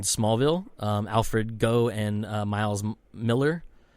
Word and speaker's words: Millar: Alfred Goh and Miles Miller. Which I used to believe his name was pronounced Millar because it's spelled just like Millar, but I found out that's actually Miller.